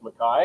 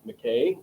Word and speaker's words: McKay: but it is pronounced mai which is the original Scottish Highland uh pronunciation for it. Most people will say McKay uh mistakenly including num a number of people who have uh the last name.